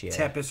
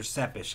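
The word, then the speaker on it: Țepeș: Tepes or Tepes. I've heard it pronounced either way. Because they said that sometimes that T is supposed to be silent.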